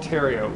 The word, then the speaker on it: Terrio: So when you think of my name, think Terrio, like Ontario. I used to say when I lived in Ontario that when I take over this province as Supreme Dictator, I'm going to rename it Terrio from Ontario, because you pronounce them the exact same way.